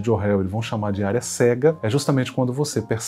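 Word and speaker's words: Johari: interessante que é a janela de John Harry se escreve joari com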